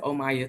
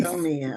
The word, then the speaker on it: Omia: But yeah, so they just pronounce it Omaya too. I'm like, no, it's Omia. It's Omia.